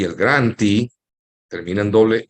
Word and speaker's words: grantee: Cuando la terminación es doble E, que en inglés se pronuncia I, ese es el que recibe. Entonces, en el caso de grantor, el grantee, por ejemplo, grantor se